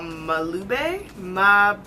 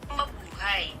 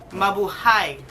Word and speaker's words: Mabuhay: We're gonna take the other matte shade, which is called Malube.